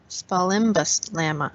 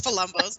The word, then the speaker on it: Spalumbo's: I butchered that name. Yes, Spalumbo's.